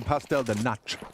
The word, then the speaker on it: pastel de nata: I'm going to have some pastel de nata.